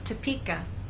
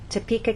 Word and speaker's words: Topeka: you can see that we stress the middle part of the word Topeka and here the